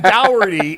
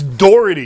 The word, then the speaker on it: Doherty: I'm saying he calls him Dougherty. It's Doherty. Listen, from the East Coast, it's Doherty.